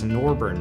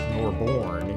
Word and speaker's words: Norborne: to pronounce it correctly it's norburn not Norborne you know so